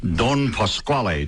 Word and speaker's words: Don Pasquale: In the Manitoba Opera production of the comic opera, Don Pasquale. Did I pronounce that properly?